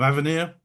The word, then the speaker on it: Avenir: Delighted to introduce Andrea MacDonald, co-founder of Avenir. Is that how it's pronounced, Andrea?